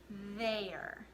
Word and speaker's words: there: it doesn't look like it would pronounce be pronounced like a but it is okay so the word is there okay let's break down the sounds in this